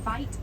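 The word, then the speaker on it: wyd: The white rhino actually gets its name from a mispronunciation of the Afrikaans word weit, meaning wide, and this refers to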